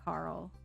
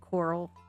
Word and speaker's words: Carl: and how he always, because of the way that the actor pronounced the name Carl, he always said Coral?